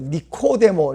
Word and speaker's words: 니코데모: 헬라어식으로 발음하니까 니코데모 이랬는데 번역하는 분이 배가 고팠는지 니고데모 이렇게 번역해 놓으셨어요.